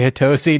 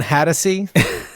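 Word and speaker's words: Hatosy: Hattasey. Sean is how you say his Hattasey. name. Well, we have to go back and re-edit the Outside Providence episode. Just every time we say Hatosi, just be like Hattasey.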